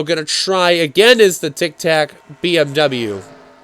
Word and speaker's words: Tic Tac: try again is the tic tac bmw i said it right this time not tick tock but the tic tac bmw just about side